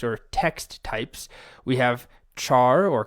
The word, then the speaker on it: CHAR: We have char or car. I guess you should pronounce it car because it's character, but I've always said char, even if that's incorrect.